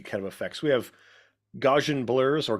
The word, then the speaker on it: Gaussian: I think it's like Gauss in a house type blurs, but that's what's causing this feeling of depth, right?